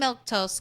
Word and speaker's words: Milquetoast: Uh, and by the way, I'm Milktoast. That's how you say my name.